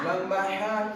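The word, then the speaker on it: ح: নাম কি জানো হা লম্বা হা উসান কেমন হবে লম্বা হা উচ্চারণে কেমন হবে লম্বা হা উচ্চারণে গলার মধ্যে শোষ করে শব্দ হবে লম্বা হা উচ্চারণে গলার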